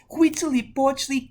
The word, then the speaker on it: Huitzilopochtli: Go ahead, try to pronounce that. Huitzilopochtli.